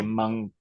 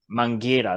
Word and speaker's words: Mangueira: I always say Mangueira. Mangueira. That's it. I always say Mangueira.